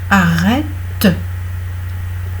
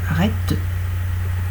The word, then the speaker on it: arrête: En revanche, c'est différent si la syllabe est accentuée. Par exemple, si vous donnez un ordre, arrête. Arrête. Voilà, arrête. Là, vous prononcez la syllabe, donc vous prononcez le E.